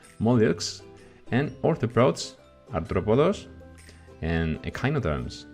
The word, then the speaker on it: mollusks: Mirar cómo se junta esa SCS, hay que hacer ahí una para pronunciarlo bien, mollusks, and arthropods, artrópodos, and echinoderms, equinodermos.